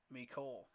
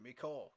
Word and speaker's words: Mecole: Hardman has enough speed to take the top off the defense, and I believe it's pronounced Mecole. Okay, Mecole.